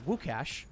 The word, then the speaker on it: Łukasz: By the way, I believe Luke is Lukasz in Polish, pronounced Łukasz.